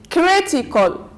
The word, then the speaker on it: critical: we have K call so we have first syllable from the end second syllable from the end and third syllable from the end we say critical critical okay let's move now